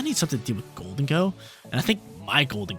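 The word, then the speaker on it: Gholdengo: Do you guys call it Golden Go like me, or do you guys call it Goldengo?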